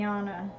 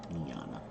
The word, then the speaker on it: Niana: Niana. Niana. Like neon.